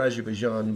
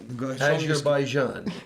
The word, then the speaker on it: Azerbaijan: Azerbaijan. Azerbaijan. There's a ZH, but okay, it's but if it was a close.